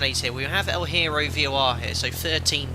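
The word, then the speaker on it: Hierro: let's now that well the h is silent okay so eero that doesn't sound very spanish right let's tax your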